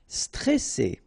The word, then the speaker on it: stressé: Okay, remember you get double S here, so you pronounce it really strong. Well, it's between two vowels. So C, all right. And then here you get this E before the double S, so it will open the pronunciation of the E. Est stressé, stressé.